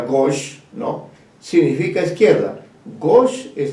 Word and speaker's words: gauche: Gauche, que se describe literalmente gauche, pero se pronuncia gauche, ¿no?, significa izquierda.